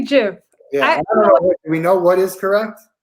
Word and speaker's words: GIF: So the person that invented GIF said it's like GIF, like Jiffy. Right. So I don't think it's Jiffy is J-I-F. That's how it's pronounced.